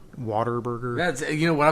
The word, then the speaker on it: Whataburger: Oklahoma or Texas but that is how you pronounce it Water Burger that's you know when